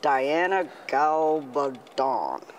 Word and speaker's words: Diana Gabaldon: Now, this is the wildly popular Diana Gabaldon.